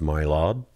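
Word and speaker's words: Mari Lwyd: oh yeah anyway so this Mari I think it's pronounced my LOB and it's basically um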